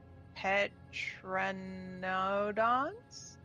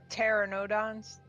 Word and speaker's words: pteranodon: of sapient eagles, owls, petranodons, and Kinda- winged lizards. The P is silent. Yeah. Oh, pteranodons. Yeah, pteranodons. Okay. I should have known that because pterodactyl. Yeah.